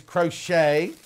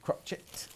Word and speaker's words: crochet: amy slipper kit 29.99 now that obviously is crochet or as paul says it crotch it right i've got three